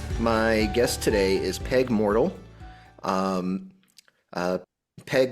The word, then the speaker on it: Moertl: My guest today is Peg Moertl. Peg Moertl Combat is the unofficial name, or just Peg Moertl? Yes, Peg Not spelled like mortal, but pronounced like mortal.